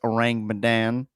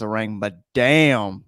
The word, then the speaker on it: Ourang Medan: like you talking about we're going to be talking about the SS orang badan that's how you say it I kept thinking in my head I was like the SS rang M damn you know but that